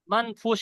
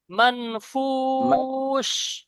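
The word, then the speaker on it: منفوش: মাবসুস ওয়া তাকুনুল জিবালু কাল ইহনিল মানফুস মানফুস, এখানেও শিন ফাআম উচ্চারণ হবে। মানফুস, তালবেশ উচ্চারণ হবে।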